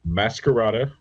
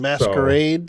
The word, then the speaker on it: Masquerada: You mean So Masquerade, Song and Shadows? nope, Masquerada. Masquerada? Yes, Spell that for our audience. it's Masquerade with an A instead of an E at the end. Masquerada.